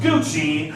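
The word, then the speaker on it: Gooschee: Not to be confused with Gucci, I am legally responsible to tell you that this is spelled G-O-O-S-C-H-E-E.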